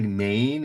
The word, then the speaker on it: Main: Bit of a spelling there, but yes, Rhine, and it looks like Maine in English, but in German it's Main.